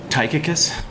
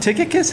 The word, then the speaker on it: Tychicus: The Y would be a U sound.